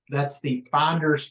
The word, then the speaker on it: Fynderz: So we've done 2 episodes, and that's the Finders Flippers podcast, but it's spelled FYNDERZ, and then Flippers is FLYPPERZ.